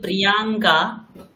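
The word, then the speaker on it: Priyanka: আমরা আমার, বলি প্রিয়াঙ্কা, হ্যাঁ। এনারা বলেন প্রিয়ঙ্কা। আচ্ছা, আচ্ছা, এর উচ্চারণটা অকারান্ত করে দেয়, মানে আকারান্ত করে।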